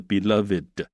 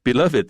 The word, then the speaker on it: beloved: beloved animals。好 beloved 这个字要注意，它当形容词的时候那个 ed 最后那个 ed 有一个音节要念的 beloved，那个是形容词的用法。例如说our beloved teacher 这个是 beloved 是就是那个 teacher，所以这时候它要念成 beloved。但是如果是 beloved 这个字的过去分词，那就是念 beloved所以发音上有差别。那总之这里讲的是火烈鸟是世界上最受欢迎最受喜爱的动物之一。